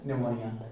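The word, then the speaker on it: pneumonia: हम बात करते हैं निमोनिया निमोनिया इसकी थोड़ा सा आप स्पेलिंग देख लेना पी से शुरू होती है और ये कैसी है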